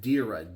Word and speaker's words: Derya: So it's from a company called, I believe it's pronounced Derya, D-E-R-Y-A.